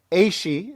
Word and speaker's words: AASHE: Make sure and look at their website too, AASHE. ASHE is the correct pronunciation, .org.